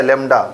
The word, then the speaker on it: lambda: इसी को कहा गया लेमडा। क्या बोला गया इसको, लेमडा कहा गया, LAMBDA, ठीक है ना, स्पेलिंग है।